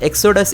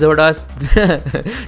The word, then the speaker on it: XoDos: And by the way, some of you guys have told me to pronounce Zordos emulator as Exodus emulator. Well, I like to pronounce it as Zodas.